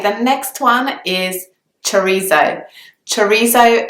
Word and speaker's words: chorizo: Chorizo is actually the English pronunciation of the word. I know that in Spanish you would say the Z sound very differently. It would sound something like chorizo.